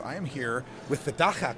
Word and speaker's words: Dagga: am here with the Daka couple you said it correctly South Africa I I studied I'm a radio guy I have to learn how to pronounce things so uh Daka of course we speaking